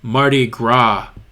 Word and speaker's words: Mardi Gras: So MMJ Medic said the S is silent. So when you say it, you go Mardi Gras, silent S.